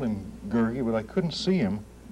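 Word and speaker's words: Gurgi: Lloyd, many of my students are interested where you got the curious character of Gergi. Did I pronounce it correctly?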